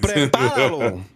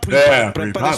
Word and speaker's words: prepáralo: Prepáralo. Not pre-Palalo.